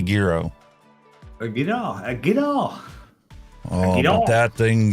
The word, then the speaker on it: gyro: it and it had gyro or Gyro depending on how you pronounce it if you want to be Greek you got to call it a Giro oh you know that